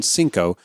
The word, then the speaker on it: Senko: There's no W at the end of it. It's as in Senkow.